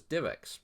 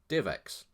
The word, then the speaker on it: DivX: idea to name it DivX. That's capital D, lowercase IV, capital X, pronounced exactly the same.